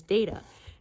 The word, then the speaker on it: Data: the very first episode, Patrick Stewart of course pronounces it the British way and says data. And they said they went, "Oh yeah, I like that better." So that is why he became pronounced as data.